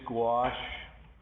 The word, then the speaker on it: gouache: You see this gouache here, and that's how you pronounce that word.